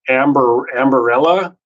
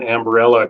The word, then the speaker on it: Ambarella: But that's Ambarella, I believe you pronounce it, ticker symbol AMBA.